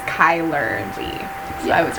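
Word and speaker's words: Chyler: oh my gosh like yeah her name is pronounced Kyler yeah I was right yeah hailer my foot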